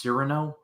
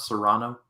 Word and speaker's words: Cyrano: Is that how it's pronounced? Cyrano, not Serrano? I've always pronounced it Cyrano. I think I don't know.